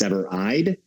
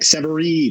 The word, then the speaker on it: Severeid: It's all Severeid, Severeid, and it is pronounced Severeid. Everyone's like Severeid, and I was like, that doesn't sound nearly as cool as reality.